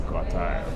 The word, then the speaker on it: Gottheil: He pronounces it as Gottheil, right? I say Gottheil, so let me correct it. It's Gottheil.